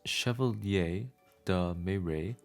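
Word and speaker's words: Chevalier de Méré: It was the year 1654 and French noblemen Antoine Gumbal and the Chevier Deere pronounced chevier de May had a problem.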